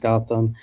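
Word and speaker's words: Gautam: It's pronounced Gotham.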